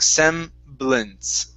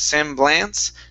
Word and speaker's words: semblance: here so the uh the a a sound here instead of saying semblance okay we're gonna pronounce either uh you can call it a schwa or an i or a short short e saying sem blintz so instead of sam blanc semblance okay semblance very good